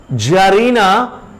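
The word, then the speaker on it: czarina: C or T is silent, it is not pronounced. So Jar, masculine, and its feminine is Jarina.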